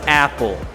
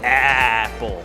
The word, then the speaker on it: Apple: Entonces, en inglés se dice Apple. Como que el sonido es muy abajo aquí. Apple. No es Apple, sino que es Apple.